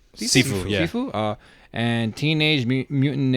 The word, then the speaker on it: Sifu: Sifu? Sifu, yeah.